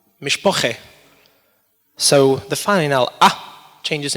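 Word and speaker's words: משפּחה: Hebrew it's pronounced mish Baha Metheny dish it's pronounced mishpocha so the final up changes into a same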